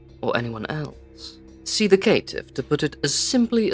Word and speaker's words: Caitiff: I speak of the clanless, those who have no home to go to, the Caitiff, or the Caitiff if you pronounce it the way it is written, which is incorrect.